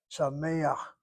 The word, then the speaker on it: sameach: The patach is not a true vowel. It is artificial. It's a glide between the frontal sound of the tzere to the laryngeal chet in the throat. Sameach, you pronounce the patach before the last letter.